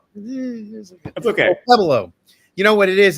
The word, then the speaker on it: Okpebholo: Okpebholo, right? Okpebholo. That's okay. Okpebholo. You know what it is? It's the silent letters in there that get me.